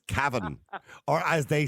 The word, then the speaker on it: Cavan: So it's Cavan, or as they say in Cavan, they don't actually say Cavan and Cavan.